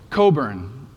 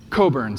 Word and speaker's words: Cockburn: And uh next question, how do you pronounce this word? This is his last name. What was that? Coburn. Oh, nice job, Coburn. So, this is good for you guys to know because it's an awkward last name and you'll sound awesome and kind of extra agile points if you know how to to pronounce it correctly.